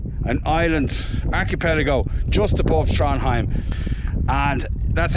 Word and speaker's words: Trondheim: island archipelago just above tranim and that's how it said not Trondheim you don't pronounce the d right or anything in the middle in Scandinavian you don't